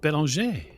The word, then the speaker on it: Bellinger: Is it not Belanger? Well, in the States, they would all pronounce it Bellinger, but it does seem like it comes from the French, yes?